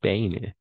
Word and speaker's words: pain: Siempre les digo A, I, va a ser E, pero esto es una excepción porque vamos a pronunciar IN que está al final.